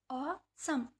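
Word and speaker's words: awesome: This is ऑसम, this is ऑसम, ऑसम, ई यहाँ पे silent है।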